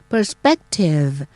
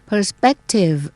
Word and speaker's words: perspective: พยาง หน้า นะ คะ perspective perspective ก็ เน้น ที่ พยางค กลาง นะ คะ แล้ว ตัว P